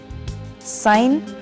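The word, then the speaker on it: sign: साइन, चिन्ह, और डिजाइन, खाका, इसमें जी साइलेंट है।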